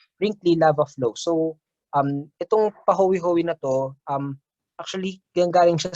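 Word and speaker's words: pahoehoe: We pronounce it as pahowi-howi lava.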